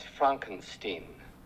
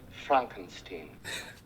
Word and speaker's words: Frankenstein: Frankenstein. That's Frankenstein. I beg your pardon? My name. It's pronounced Frankenstein.